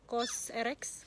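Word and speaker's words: COSRX: Eh kayak tester ya GC tester dari kokoschka bacanya kos RX vrx ini dan juga dapat ini juga tapi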